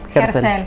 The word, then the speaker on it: Gerzel: Germán, contame, Herzl, ¿cómo se pronuncia tu apellido? Ah, sí, Herzl.